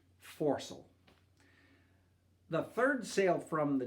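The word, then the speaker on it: foresail: pronunciation guide for you in all the names that end with the word sale pronounce that as saul so it would be like mainsult forcel the third sail from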